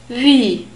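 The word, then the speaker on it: Wie: word for how and we have a W in this word and this is pronounced like the English V sound so it's a sound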